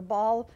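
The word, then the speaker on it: Baal: and meanwhile the prophets of bale are trying to her ball depending on where how you pronounce it they were they were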